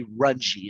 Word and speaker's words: Runge: Yeah, no, and it's Shelby Runge is how you pronounce Runge, that.